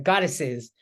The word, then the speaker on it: goddesses: uh goddess is Right goddesses right a lot of students fail to add that extra syllable it's important when you pluralize uh words that end in that same with um some